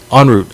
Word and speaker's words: En route: So En route was En route, not en route. Okay, en route. It has a French kind of.